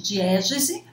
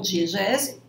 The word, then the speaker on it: diegese: podemos chamar também de diégese, né? Ou diegese, há 2 pronúncias possíveis, relações então entre história e narrativa.